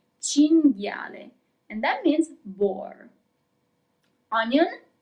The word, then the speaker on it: cinghiale: Cinghiale. Here we also have the group that we have already seen, G-H-I, G. Cinghiale.